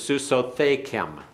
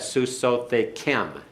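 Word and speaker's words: סוּסוֹתֵיכֶם: masculine plural marriage is suso thank him and excuse me I put the accent on the wrong place that susote Kim the accent's on the last syllable this is an unusual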